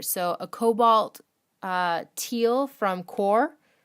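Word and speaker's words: Qor: So a Cobalt Teal from Core, I'm pretty sure I'm pronouncing that right, Q-O-R, Core, and then an Opera Pink from Daniel Smith.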